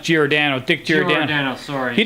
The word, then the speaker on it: Giordano: No, I think it's pronounced Giordano.